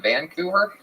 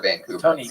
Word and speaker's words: Vancouver: You put the wrong emphasis on the wrong syllable.